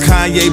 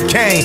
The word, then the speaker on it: Kanye: Now all I need is y'all to pronounce my name as Kanye, but some of my plastic. They still say Kane.